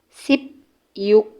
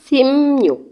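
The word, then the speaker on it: 십육: sip o Sipo sipo 16 10 dengan en sip yuk sip yuk sip iuk dibacanya simnyuk simnyuk simnyuk simnyuk 17 17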